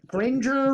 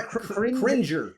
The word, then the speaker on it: Cringer: like the cat like gringer or cringer cringer cuz he's cringing at the scary things.